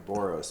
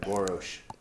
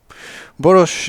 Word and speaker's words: Boros: burrows but when you pronounce it in your native tongue it's more like boorish boorish is the Hungarian pronunciation and but he called